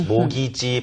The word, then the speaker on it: mortgage: Mortgage, 모기지 발음이며 mortgage loan.